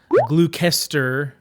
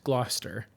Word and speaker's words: Gloucester: so gloucester sage and no it's not pronounced glue kester it's gloucester it's a rich brown color